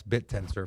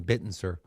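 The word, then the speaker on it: Bittensor: He couldn't pronounce bit tensor for the longest time. He kept saying bitten sir.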